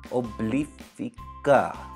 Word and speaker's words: Obliphica: pretty surprised with this Oh bleep pika that's how you say it so you guys here's